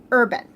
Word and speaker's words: Urban: her brother arrow mine is played by Karl Urban I believe is how you say his last